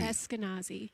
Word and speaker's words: Eskenazi: pronounce Eskenazi. Eskenazi. Eskenazi.